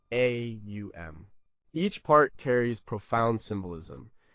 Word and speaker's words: Om: Om is pronounced as three distinct sounds. A u m.